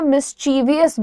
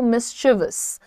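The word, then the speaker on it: mischievous: पहले इसकी स्पेलिंग देखो शरारती को लोग कहते हैं मिस्टीविंदवल्ले बच्चा है या फिर ही इज अ मिस्टीविंदवल्ले स्पेलिंग पर ध्यान दो और शांति से धीरे बोलो मिसचिवस मिसचिवस यह याद रखना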